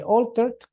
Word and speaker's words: altered: So anytime that we have al, we pronounce it as all, right? So all, and we have to say altered.